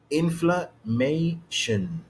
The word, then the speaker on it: inflammation: لان الاستريس على المقطع الثالث يبقى هو ده اللي هيبقى more prominent. Okay, louder and it takes much more time.